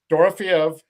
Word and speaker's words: Dorofeyev: And I am bad at pronunciations, but this Dorofeyev guy, Dorofeev. Dorofeyev, Yep.